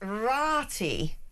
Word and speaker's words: Ratae: Lester in Roman was in Roman Ratae, pronounced Rati.